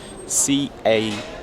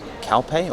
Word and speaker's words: Calpe: i'm saying completely wrong c-a-l-p-e calpe or calp i think it's calpe scalp there you go